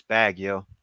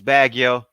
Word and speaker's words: Baguio: is great k reeve it's bad yo it's bad yo you can say it